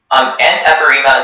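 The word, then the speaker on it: antepirrhema: Antepirema is the only pronunciation.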